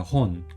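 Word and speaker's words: 本: 그래서 이 한자의 음독 같은 경우는 혼이라고 읽어요. 혼.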